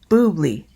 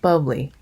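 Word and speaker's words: bubly: about how it's pronounced b-u-b-l-y is boobly not bubbly english folks i know it's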